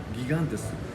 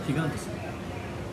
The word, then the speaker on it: Gigantes: けれども、スペイン語は頭の G を発音しないんですよ。だからヒガンテス G がヒになるんです。